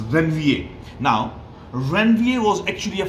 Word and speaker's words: Ranvier: of ranvier now here the pronunciation is when va it has nothing to do with iran wheel it's then va now ranvier was actually